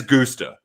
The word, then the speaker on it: Gusta: Look at I did check the pronunciation guide. It is Gusta.